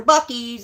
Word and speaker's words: Buc-ee's: I'm going to Buc-ee's, everybody, for my food review. And it's spelled, I thought it was spelled B-U-C-K-S, but it's not.